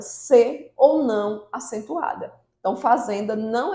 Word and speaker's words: fazenda: Por exemplo, se nós falarmos fazenda, fazenda, o zen é a sílaba mais forte.